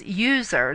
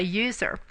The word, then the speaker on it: usr: one that we pronounce user there's no e it's just USR but we still say user the U folder or